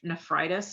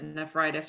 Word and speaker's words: nephritis: I think it's nephritis is how you say it. Mm. Um, So that's an F, NEF. I think it's Oh, NEPH.